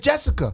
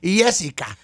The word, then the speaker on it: Jessica: it yeah okay cuz you said it wrong you said Jessica now in Latino culture we don't pronounce this yay so her name is Jessica Jessica Jessica yeah please do well